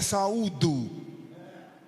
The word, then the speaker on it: saúdo: Eu vos saldo com a paz do Senhor. Se a pronúncia correta é saúdo, fica ruim, uma pessoa fica toda gelada ali, espremida, sem saber o que fazer.